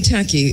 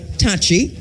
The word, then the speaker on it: Takyi: In Ghana, the name Taki exists, but it's not pronounced Taki, and it's not spelled Tacky, but Takyi or Takyii, and so to the name Sachi, Sakyii, so that it would be Tachi, or Sachi.